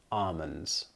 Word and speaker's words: almonds: Not almonds, as you might believe when you see it written down, but again, like salmon, we omit or drop the L sound, so it's almonds.